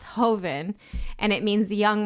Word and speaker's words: joven: much younger Vine so it looks like it's pronounced Joven but I'm assuming it means or it's pronounced Hoven and it means the young wine in Spanish